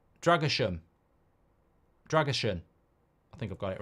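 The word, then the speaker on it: Drăgușin: um not anymore um Andre says pronounce drason but but a but like an um and S as in shot dragushan dram dragushan I think I've got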